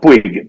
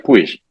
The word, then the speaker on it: Puig: Nosotros acá decimos Puig, pero allá se pronuncia Puig en España. Aquí se pronuncia Puig porque es de origen catalán.